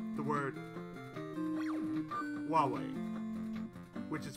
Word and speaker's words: Huawei: Like say the word Huawei, which is spelled H-U-A-W-E-I.